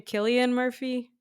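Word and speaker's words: Cillian Murphy: Is his name Killian Murphy? Yes, that's Okay. correct. Okay, cuz I jack up everyone's names wrong. I You're mess like, up my own I name. can't see, is that Killian Murphy?"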